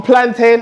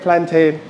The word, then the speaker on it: plantain: So I know there's a great debate a national debate on plantain or plantin but personally I called it plantain.